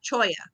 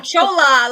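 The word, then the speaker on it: cholla: Choya. That's how you say it. I was about to throw some Jew in like Hala, but that's the wrong thing. I don't know. I was going Chola.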